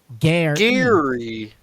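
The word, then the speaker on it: Gerry: G E Turner it's so they say it's in like phonetic spelling how to say his name g a i r hyphen e e Gary Gary Gary Gary Gary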